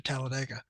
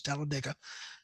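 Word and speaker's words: Talladega: that's now moved to Tallaladega. Excuse me. I'm sorry. I have to apologize to my grandmother that the correct pronunciation is taliga because she's from there.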